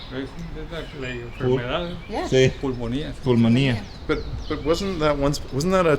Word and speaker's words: pulmonía: Y el pronunciación es pulmonía.